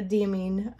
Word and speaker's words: Diamine: This sample, which is the Diamine, all those names I've heard pronounced. I've heard them all, but the one I choose to use is a Diamine Purple Pazzazz.